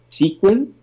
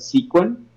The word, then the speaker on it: sequin: sequence uh like this sequin like sequence but sequin yeah I put it